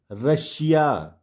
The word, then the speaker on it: Russia: ध्यान से देखिए, यदि किसी शब्द में S हो या SS 2 बार हो और उसके बाद क्या हो, IA ION ये आपको दिख जाए तो S को श पढ़ते हैं।